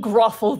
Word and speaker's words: Grothel: I am King Grothel the Third. King Grothel. Grothel? I'll spell it out for you. Grothel? King Grothel. Is it like a like brothel but with a G? It's like that.